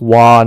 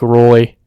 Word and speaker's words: Roy: might not know um nick wah his name it is spelt roy um there's a goalie very very famous goalie with the same name so if you didn't know it's nick wah not nick roy i had a friend